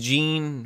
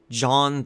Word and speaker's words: Jean: I appreciate what they tried to do with Jean, or John, they switch between pronunciations.